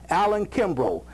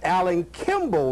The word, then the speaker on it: Alan Kimball: And Alan, you told me that I mispronounced your name earlier. It's Alan Kimball, right? Right, that's correct.